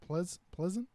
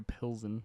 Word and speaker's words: Pilsen: How the hell do you pronounce that? Pleasant? It's Please? Victoria Pilsen.